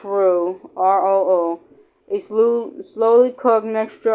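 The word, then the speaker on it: roux: They make felt with begin with a r o or r o r o u x or pronounced r o.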